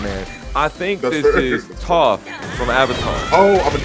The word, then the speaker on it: Toph: Is it pronounced Toph, chat? Is it Toph?